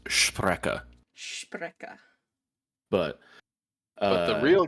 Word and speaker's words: Sprecher: Actually, I believe it's supposed to be pronounced Sprecher.